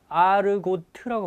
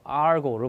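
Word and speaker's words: argot: 이 발음을 아르고트라고 발음하지 않아도 됩니다. 알고로 발음합니다. T 발음을 보통 안 합니다.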